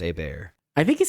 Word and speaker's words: Hebert: I always said pronounced Herbert. but I think it's pronounced Bear.